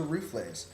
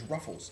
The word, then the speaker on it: Ruffles: Now you might be asking yourself, what is a rouflays? And the answer is, it's actually a type of chips known as ruffles in the United States.